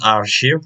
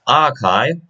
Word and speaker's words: archive: also common mispronounced word it is not our ship it's archive the archives still left